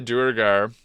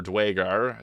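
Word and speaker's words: duergar: more benefits and then the durar or dwar there's a few different pronunciations of it they get the D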